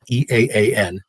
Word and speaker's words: EAAN: the objections to uh the e-a-a-n that's how you say it by the way the initials e-a-a-n let's go along it's